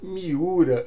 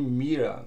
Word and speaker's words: Kazuyoshi Miura: O Kazuyoshi, inclusive em japonês eu vi a pronúncia, eu acho que é algo mais perto de Mira, Kazuyoshi Mira.